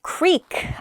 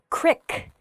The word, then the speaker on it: creek: that vary by region creek i say creek you might hear the word crick qrik the word creek means uh a small river essentially uh there's a creek